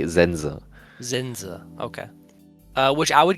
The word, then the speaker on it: Sense: We have Zen auf Japanisch Zenze, but I guess auf Deutsch wie sagt You would just pronounce the E, the second E less, you'd say Zenza.